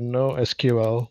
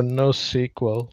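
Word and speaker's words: NoSQL: my talk is called introduction to no SQL or no sequel however you want to pronounce it and maybe we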